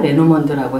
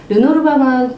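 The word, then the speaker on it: Lenormand: 제가 이야기하면서 르노르망이라고 했다가 레노먼드라고 했다가 이렇게 발음을 바꿔서 얘기하는데요. 르노르망은 프랑스 사람들이 르노르망 카드라고 얘기를 하고요.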